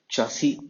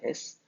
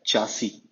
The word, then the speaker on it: chassis: In this slide, we will discuss all about chassis and frame. The spelling of first word, it is CHASSIS, but you must pronounce this word as chassis. It is not chassis, it is chassis.